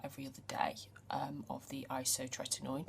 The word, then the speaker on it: isotretinoin: other day of the Isotretinoin. See, I said it right this time. I do think Isotretin, or whatever I said last week, sounded better. Anyway, I'm doing 1 every